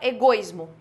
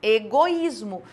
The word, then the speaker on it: egoísmo: Na hora de eu pronunciar, você não fala egoísmo, você fala egoísmo. Veja que tanto o O quanto o I têm sons fortes.